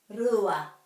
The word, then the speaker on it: rua: So the r is rolled in Te Reo. Rua, rua. So it's not rua because the r is the English pronunciation of the r. This is the Māori word, so it's r.